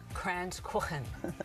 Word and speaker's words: Kranzkuchen: to make today okay well today we've got crayons corn that's how you pronounce it that's right and what it actually